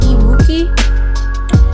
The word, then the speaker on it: EMOOQI: It's called Acrylic Paint Set Emooki. It's spelled EMOOQI, and it's $19.99.